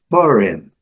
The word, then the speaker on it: foreign: Foreign. Duas sílabas, sílaba forte aqui. Duas sílabas, foreign.